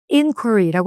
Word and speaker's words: inquiry: 발음을 inquiry라고 하면 되는데 이 단어는 저희가 동사부터 시작을 해볼게요.